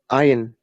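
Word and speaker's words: عين: Imagine you are like trying to pushing something out of your throat.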